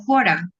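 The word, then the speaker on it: χώρα: para los ejercicios, como fora, esta que está acá, esto es una ji, que es esta que está aquí, por lo tanto se pronuncia como una j.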